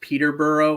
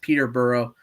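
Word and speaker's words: Peterborough: town you're thinking of it's pronounced Peter bur Ontario yeah I was looking at a map and I was looking at the word I was like oh that's Peter burrow but yeah no I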